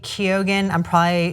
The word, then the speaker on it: Keoghan: Barry Keoghan, how do you pronounce that? I think it's Keoghan.